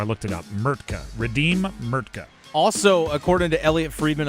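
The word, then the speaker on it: Mrtka: MKA redeem Mertka.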